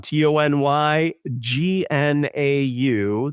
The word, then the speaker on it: Tony Gnau: TonyGnau. That's how you pronounce now, or how you spell now, GNAU.